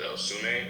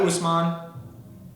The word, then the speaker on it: Usman: Is it Osune or Osumene? Yeah, Usman. Usman, okay.